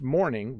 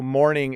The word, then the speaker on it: morning: how do we pronounce morning versus morning they are the same so morning is when the sun comes up morning with a u is when you are sad and reflective because someone has died so you're